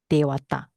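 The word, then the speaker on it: devatā: But here is we put it as a long A because it means that it's a plural.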